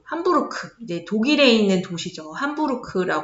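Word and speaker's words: Hamburg: 이제 독일에 있는 도시죠 함부르크 읽으면 되 햄버그 거 같지만 함부르크 독일의 함부르크는 새로운 이제 콘서트홀 이제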